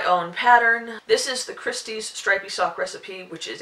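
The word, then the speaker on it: Christi: look it up by putting in my name Christy uh with a c r i s TI by the way I never spell it with an H um and it's basically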